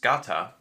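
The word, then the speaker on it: σκατά: the movie you can see a Greek word pronounced scata spray painted onto a boulder which roughly translates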